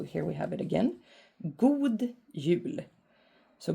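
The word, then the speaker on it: God jul: we have it again good Yu so good is pronounced like God but it's it means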